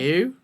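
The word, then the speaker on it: Liu: of the stream but it's l i u like Le I'd say Le or maybe l or Le name she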